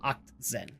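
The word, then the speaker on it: Achtzehn: It's either Actzen or Octzen. I used to call it Actzen, but then said German friend actually said no. Anything in German is like Oct. Oct.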